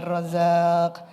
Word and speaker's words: Razzaq: Artinya, pengucapan harus jelas dan makhraj harus benar. Ya Rozaq, Ya Rozaq. Di sana ada qalqalah.